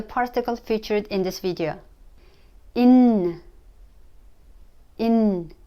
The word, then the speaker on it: нь: featured in this video in in soft sign the little B doesn't have a sound so it's in okay let's get started